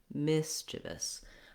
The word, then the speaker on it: mischievous: You also want the miss to be held longer and the chivous to be shorter and have reduced vowels. Mischievous.